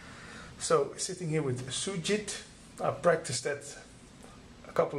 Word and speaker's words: Sujith: So, sitting here with Sujith, I practiced that a couple of times. Did I pronounce it right? It was precisely how Indians would call it.